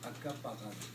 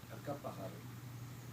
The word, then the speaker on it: Uncompahgre: So when a Ute was asked, "What are you?" he said, "Acapahar." So the best way he could spell it was Uncompahgre, U-N-C-O-M-P. That's the spelling for it. But if you break it up, Aka, the U-N-C-A means red, P-A-H, water, and the G-H-R-E is the vowel sound of Acapahar, means red water.